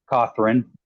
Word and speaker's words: Cawthorn: Cawthorn.